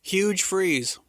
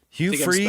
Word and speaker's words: Hugh Freeze: Huge Freeze. Hugh Freeze. Oh, Hugh Freeze. I was saying his name wrong the whole time.